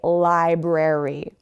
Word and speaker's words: library: A lot of people forget that R. It's actually library.